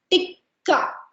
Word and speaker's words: tikka: and then the second because there are two k's right so you put emphasis on that k so it's called chicken tikka this is how you